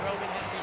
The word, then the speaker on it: Hemby: You said it right, the Roman Hemby drive.